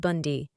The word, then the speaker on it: Bounda: It's not that I mind the name, the issue is that our last name is Bounda, pronounced Bundy.